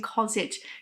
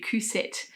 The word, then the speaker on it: Cousette: had said to me you're pronouncing KET is meant to be cousette um and look there's